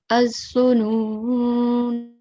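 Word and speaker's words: الظنونا: Now, if we decide to pause on this word, okay, then we are going to pronounce the blank alif at the end. Okay, and we'll pronounce it as az-zununa.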